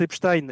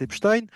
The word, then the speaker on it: Epstein: fais un petit aparté, moi je prononce Epstein, et il y a beaucoup de gens qui prononcent Epstein, j'ai jamais prononcé Albert Einstein, si vous voulez, hein, on prononce Albert Einstein. Et le fait de prononcer non pas Jeffrey Epstein, mais Jeffrey Epstein, c'est déjà un biais